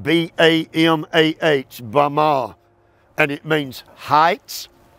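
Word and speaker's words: במה: If you are wanting to learn Hebrew, the word is spelled B-A-M-A-H, Bama, and it means heights.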